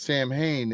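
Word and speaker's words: Samhain: It's pronounced Sam Hayne if you're talking about the band.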